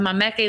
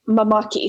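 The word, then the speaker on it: māmaki: obviously you've talked about the mameke leaves and i hope i'm pronouncing that right the more you talk bella the more i realize i need to brush up on my hawaiian oh yeah no it's really easy it's just mamaki so like mama and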